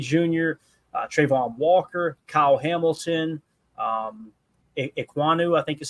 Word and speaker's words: Ekwonu: Thibodeau, Derek Stingley Jr., Trayvon Walker, Kyle Hamilton, Ekwonu, I think is how you say that name, Akeem Ekwonu, offensive tackle, Garrett Wilson at number 8, Evan